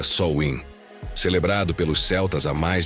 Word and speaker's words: Samhain: Como você está descobrindo, tudo começou com o festival de Samheim, que se pronuncia Sol Win, celebrado pelos celtas há mais de 2000 anos.